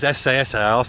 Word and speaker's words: Esseesse: 595 si si and it is si SS the bath that's the right way to say it no SS si si is the right name for this car but I've flown well